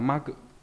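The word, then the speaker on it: 幕: Nó là đọc là ma cự. Đấy, ví dụ ma cự này hay là trong từ khai ma cự.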